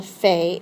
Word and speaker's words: fait: And the forms are je fais, tu fais, il, elle fait. It sounds the same, but it's spelled a little differently. It ends in a T.